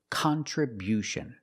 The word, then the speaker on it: contribution: We change the stress to the first and third syllable. Contriution. Contribution. The first and third syllable. Stress the first and third syllable. Contribution. And because we stress the first syllable, the sound changes. It's not. It's not the short sound. It's con. Con. We use the short a sound like hot and stop.